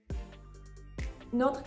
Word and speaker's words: notre: Notre copine est notable. Almost every E in this sentence is going to be silent. The E at the end of notre, at the end of copine, and at the end of notable.